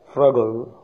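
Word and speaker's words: frugal: उसके बाद है फ्रगल फ्रगल फ्रगल फ्रगल, इसका प्रोनाउंसिएशन इस तरह है, इसमें यू की आवाज़ नहीं आती बल्कि ओ या ए की आवाज़ आती है, ये मुझे अब तक नहीं पता चला।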